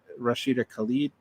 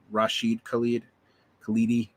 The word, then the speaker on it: Rashid Khalidi: Rashida Khalid, not Rashida, Rashid Khalidi. Man, I butchered that name.